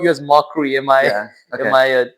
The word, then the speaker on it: Mokry: Mockry, but Yeah. this is just Mokry. So Yeah, without the okay.